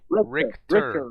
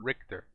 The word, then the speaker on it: Richter: so wait, Richter, Just Rick, like Rick, Rick and Morty. Richter, Richter.